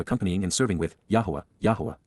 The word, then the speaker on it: Yahowah: and serving with yahwah yahwah the proper pronunciation of the name of eloah God as directed in his